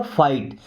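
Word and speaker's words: fight: टू क्या करना पड़ेगा, फाइट। इससे फिगाट नहीं पढ़ते, बताया था मैंने कि टी के पहले जब जी एच आएगा तो जी एच साइलेंट हो जाएगा।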